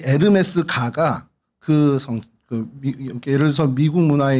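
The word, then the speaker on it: Hermès: 근데 이게 영어로 하면 허미즈입니다. 허미즈인데 이 불어로 하면 어떻게 됩니까? 네, 여러분들이 좋아하는 에르메스가 됩니다. 그럼 에르메스하고 이 헤르메스하고 관련이 있는 거냐? 똑같은 겁니다. 앙리가 헬리가 앙리인 것과 똑같은 발음 차이예요.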